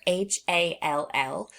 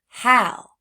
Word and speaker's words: hall: h a l l we might think that it's going to be the word how but it's not. It's pronounced hall because a ll words typically rhyme with the sound all like the word all like all of us